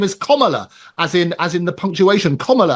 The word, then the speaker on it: Kamala: Oh no, listen, her name's not Kamala. Amy? No, not that. Or forget that. I'll vote for Trump. At least you can get his name right. But Kamala Harris, that's how you pronounce it.